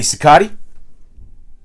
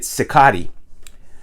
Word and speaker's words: Cicotte: And when they talk about him, they pronounce it Cicotti. So I changed my pronunciation to Cicotti. I don't know if that's right or not. I mean, it makes sense. You know, us Italians, our names end in a vowel. It wouldn't be Cicotte in Italy.